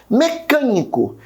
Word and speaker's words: mecânico: Mecânico. Percebe que o can de mecânico também, né, é a minha terceira sílaba de trás para frente pronunciada com mais força, ou seja, a minha antepenúltima.